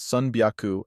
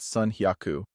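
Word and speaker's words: 三百: hundred and eight hundred three hundred is pronounced as sunbiaku and not Sun hyaku h y becomes by 600 is rap yaku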